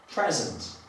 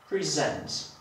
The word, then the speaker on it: present: a mianowicie przykład słówka present albo present. Jeżeli zaakcentuję pierwszą sylabę, mam do czynienia z rzeczownikiem, jeżeli zaakcentuję drugą sylabę, mam do czynienia z czasownikiem.